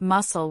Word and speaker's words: muscle: And then there are words like muscle where the C is completely silent.